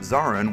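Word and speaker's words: Zorran: Fun fact, the character of Zarin was named so because it rhymes with Moran.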